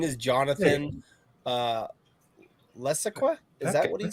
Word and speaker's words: Levesque: It's pronounced Levesque. Levesque.